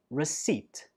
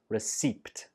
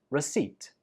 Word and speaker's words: receipt: shopping, and this is receipt. There is no p sound when we say this word, so it's not receipt. It's just receipt.